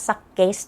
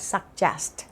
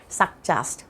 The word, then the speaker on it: suggest: ไป ดู กัน ค่ะ suggest อย่า อ่าน ว่า suggest นะ คะ ตัว G เนี่ย มัน เป็น เะ ก็ ได้ เป็น เะ ก็ ได้ นะ คะ ตัว นี้ อ่าน ว่า suggest suggest แปล ว่า แนะ นำ